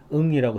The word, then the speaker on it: Ng: 그리고 이제 그 딥러닝 강의로 굉장히 유명해지신 분이 있는데 NG라고 쓰는 중국계 이제 미국인인데 응이라고 해요. NG라고 쓰는 거는 이제 응이라고 읽습니다.